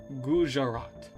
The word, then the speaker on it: Gujarat: Gujarat. Okay, got it. I'm gonna be learning a lot, but also having a lot of fun too. Also in India, we don't silence the J. Okay, my bad. Gujarat.